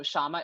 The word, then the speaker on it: Syama: And so Syama is obviously not spelled with an H because you see it listed on my picture. So don't do that. But it's SYAMA.CLUB.